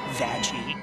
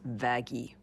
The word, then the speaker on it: Vaggie: like you mhm after the best thing ever vagi actually it's pronounced vaggi interesting run now sful filth like you has